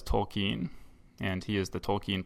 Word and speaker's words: Tolkien: Actually, one thing he needs to set us straight on, too, is our pronunciation, because for my entire life, I've always thought of it as J.R.R. Tolkien, but Corey says Tolkien, and he is the Tolkien professor, so I'm sure he's right.